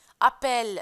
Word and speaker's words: appel: Vous avez ici deux L. E. On va la prononcer et sans mettre l'accent. Appel.